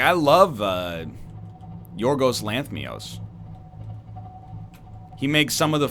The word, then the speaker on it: Lanthimos: And apparently it's Lanthimos, not Lanthmios. I've been mispronouncing it for years.